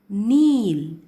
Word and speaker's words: kneel: Kneel. Kneel. K is silent here, so you'll have to read it as kneel.